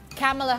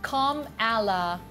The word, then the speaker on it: Kamala: language learning platform babble mm us Vice President Camela Harris is kamala Ano ba kamala yun yung tama Oo Camela